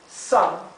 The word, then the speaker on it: some: Some, aquí es más cerrada la vocal y es más parecido entre una A y una O.